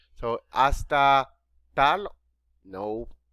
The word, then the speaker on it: hasta: next one hasta remember the letter h is silent in spanish so hasta tal no hasta manana hasta will be